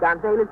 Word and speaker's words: Gonzalez: Yes, I pronounce it Gonzalez. I'm not Spanish, you see.